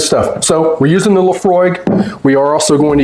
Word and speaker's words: Laphroaig: So the correct pronunciation is Laphroaig. Laphroaig.